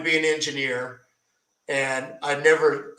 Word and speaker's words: Neve: And tell me just briefly, because isn't one of your heroes the guy Neve, or how do you pronounce his name?